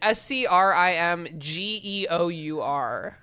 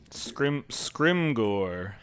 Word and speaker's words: Scrimgeour: edification Scrimgeour. Yeah. Scrimgor. Yeah. In French, it's what? Again, we did this before. Scrimgeour? Like bonjour? Scrimgeour? I think it's scrimgeour.